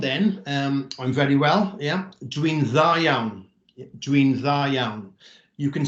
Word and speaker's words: dwi'n dda iawn: So 1D becomes 2 Ds in this instance, and it's pronounced dwi'n dda iawn.